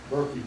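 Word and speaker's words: Burkie: But Berkey is my name. Well, it's my nickname actually. And it's spelled B-U-R-K-I-E.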